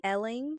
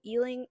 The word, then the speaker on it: Ealing: Then we jump to, I believe it's pronounced Elling. Sorry, I'll just say Ealing. I'm sorry if that's the wrong pronunciation. We jump to Ealing, London, where we meet Sarah Jane, Luke, and Mr.